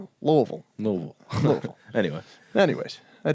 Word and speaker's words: Louisville: in the community of Louisville Kentucky and Louisville Louisville yeah they said it sounds like you're swallowing the word and that doesn't help you pronounce it but that's what everyone says to Lille Lille Lille anyway anyways